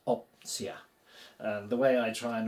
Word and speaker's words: opcja: Take off the shon, and we're left with our root, op, oh, like in orbit, so we're good on the pronunciation, and then simply CJA. Simply add CJA to replace the shon, and we get this opcja.